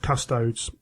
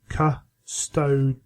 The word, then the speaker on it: Custodes: it sound cool um it's not custodes which is technically I believe the Latin pronunciation it is Casto with the emphasis on The Middle um on the Stow as it were and yeah